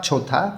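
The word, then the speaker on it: 좋다: নিচে আছে খ্যংছিগা ঝোথা, খ্যংছিগা মানে হচ্ছে প্রাকৃতিক দৃশ্য বা দৃশ্য, ঝোথা অর্থ ভালো, হিউতের পরে দ আছে, এই দটা এখানে থ উচ্চারণ করতে হবে।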